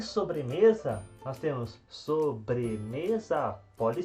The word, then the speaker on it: sobremesa: comer uma então sobremesa então a sílaba tônica de sobremesa é o me e agora para finalizar